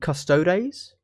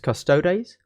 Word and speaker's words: Custodes: And if you think over to Custodes, you know, Adeptus Custodes, the way you pronounce Custodes or Custodes is the same way that you would pronounce Arbites or Arbites.